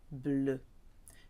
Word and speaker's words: bleue: Être fleur bleue. To be a blue flower. Fleur is feminine, so bleu is spelt with an extra E on, but it sounds like the masculine.